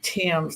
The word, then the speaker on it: Thames: I pronounce my last name Thames, like the Thames River in England.